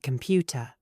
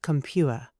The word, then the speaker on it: computer: Say computer, not compuer.